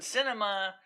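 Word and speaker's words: Sinema: But I can tell you that they're still talking with Manchin and Kirsten Cinema of the... It's actually pronounced cinema, like in science.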